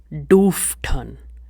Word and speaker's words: durften: So for dürfen, durften. Do not pronounce it as durften. It is do. Durften. Durften. Now for wollen, it is wollten, which means wanted.